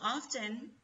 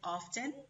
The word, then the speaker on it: often: Chicos, often se puede pronunciar de dos formas. Puede ser often. A mí me gusta mucho pronunciar las T, pero eso ya es preferencia. O también se puede pronunciar often. Often. ¿Ok? Como quieran. Cualquiera de los dos está bien.